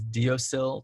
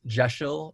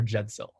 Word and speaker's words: deosil: where it says it looks like it says deosil to mean clockwise or sun wise it's actually pronounced it's geshel or jedsil oh but to spell it out phonetically it